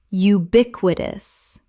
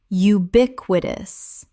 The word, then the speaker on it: ubiquitous: ephemeral ephemeral Word 255 ubiquitous Common mispronunciation ubiquitous Correct pronunciation ubiquitous Four syllables with the stress on the second.